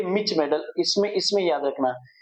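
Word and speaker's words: mischmetal: Pronounce देख लेना, जो भी है मिच मेटल बोल देते हैं इसको, मिच मेटल या मिस मेटल, मिच मेटल बोलो, मिच मेटल।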